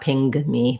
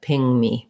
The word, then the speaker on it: ping: So in ping, it's its own sound. You can check out my videos talking about N and NG to help you with something like ping me. But but you won't hear any, you don't want any g sound sneaking in there. Not ping me, but ping me, ping me.